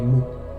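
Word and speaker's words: maux: mais il y a les mots M-A-U-X qui, même s'ils se prononcent pareil, ne veulent pas dire la même chose.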